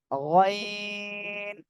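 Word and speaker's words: غين: হলে সেটা কি হবে গাইন গাইন এই যে কলার শেষ ভাগ থেকে ওইটা উচ্চারণ হবে গাইন গাইন গাইন সবাই একসাথে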